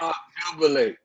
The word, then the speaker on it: obnubilate: I am releasing my Nope, you're saying too many syllables, boo. Obnubilate. Nubilate. Yeah. Side. Obnubilate.